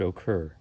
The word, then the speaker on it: occur: second part is stressed so this word occur notice that the stress is on occur the second part all right so all